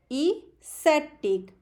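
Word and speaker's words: aesthetic: Next and last word is ASCETIC, आप भी साथ में बोलिए, इसेटिक। एस्थेटिक।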